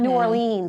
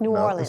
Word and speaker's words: New Orleans: Yeah, it's not New Orleans, I was told. No, it's New Orleans.